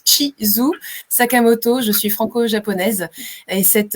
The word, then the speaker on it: Chizu Sakamoto: Donc mon prénom se prononce Chizu Sakamoto.